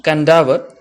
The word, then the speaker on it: Kadavu: On the island of Kadavu, pronounced Kandavu, one of the larger islands of Fiji group